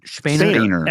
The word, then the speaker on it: Spener: Spener.